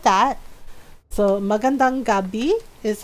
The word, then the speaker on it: magandang gabi: Mong gab so it looks like that so magandang Gabi is how you say good night in Tak